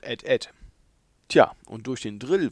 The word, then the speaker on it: AT-AT: Aus dieser Zeit kommen wohl auch noch die komischen Aussprachen wie X-Wing und AT-AT anstelle von Ed.